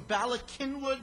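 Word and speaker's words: Bala Cynwyd: the uru radio th I believe you're from balak kinwood Pennsylvania is that correct that's right I I pronounced it right she did very even though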